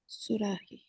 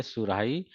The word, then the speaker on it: सुराही: इ र इजेंस द you have to pronounce ए सुराही क्योंकि इसमें ओके हा बिकॉज देर इ वर्ड सुराही हम लोग को पता है सराही कोई वर्ड नहीं होता है और सिरा भी नहीं